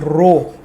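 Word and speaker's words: rho: represented like this okay it इज रो okay it is pronounced as रो this symbol and this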